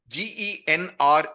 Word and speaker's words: genre: GENRE को genre करके pronounce करते हैं।